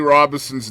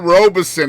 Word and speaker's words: Robinson: No, I said Robison instead of Robinson. Oh, okay. Well, at least you didn't throw an N in there, man. No, I didn't do Robinson, no.